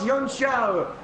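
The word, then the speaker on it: Junção: Side by side down the hill towards Yunxiao. And there you go, there's a proper pronunciation for you.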